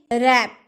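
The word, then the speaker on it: wrap: रैप, रैप यानी कि लपेटना। Wrong, W का उच्चारण आया, वो रॉन्ग बोले नहीं ना, हम क्या बोले?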